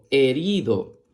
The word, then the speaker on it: herido: La palabra herido se escribe con H-E que suena E, R-I que suena ri, D-O que suena do, herido.